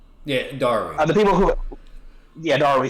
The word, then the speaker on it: Darui: theirs, and then C and how do you pronounce his name? Yeah, Darui. The people who, Darui.